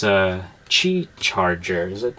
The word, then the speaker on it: Qi: But the cool thing with the charger is it's a Qi charger. Is it how you pronounce it?